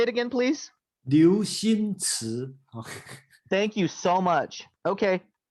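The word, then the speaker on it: Liu Cixin: His name is it's spelled Cixinliu. Cixin. Oh, sorry, that's Liu Xinci. Oh, thank you. Yeah, actually. Can you pronounce it for me? Say it again, please. Liu Xinci.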